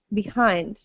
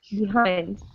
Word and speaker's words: behind: we say in english we stress the second syllable and say behind behind or behind again if